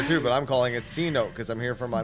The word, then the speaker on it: Cenote: it for yourselves I mean it's pronounced Cenote here too but I'm calling it Cote cuz I'm here for my money home like